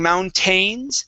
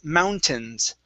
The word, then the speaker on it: mountains: we have an ai typically the ai is going to be a long a sound okay like a but in this word we do not pronounce that instead of saying mountains it's mountains mountains mountains okay instead of tines it's t short i tins mountains montine mhm okay